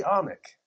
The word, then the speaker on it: Anik: And you, is it Anik or Anik? It's actually Anik.